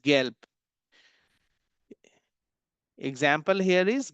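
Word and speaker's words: gelb: भी letter B बा जब भी लेटर ब किसी भी जर्मन वर्ड के लास्ट लास्ट में आएगा तो उसका प्रोनाउंसिएशन पा में बदल जाता है। Example here is गैल्प। Example here is गैल्प।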